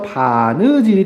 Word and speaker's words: 바느질: 이거는 리을이 탈락하면서 바느질이 되겠습니다.